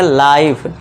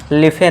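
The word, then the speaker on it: life: ऐसा मान लीजिए क्योंकि ये लास्ट में इ आ गया तो इसे हम नहीं पढ़ेंगे। तो इसे क्या पढ़ेंगे हम? लाइक। बस हम एल आई के तक ही जाएंगे। इस तरह इसमें भी एल आई एफ ही जाएंगे। तो इसे क्या पढ़ेंगे? लाइफ। लिफे नहीं लाइफ। इस तरह ऐसे भी हम पढ़ेंगे गिव ना कि गिववे। तो यहां ई का साउंड हम नहीं करते हैं।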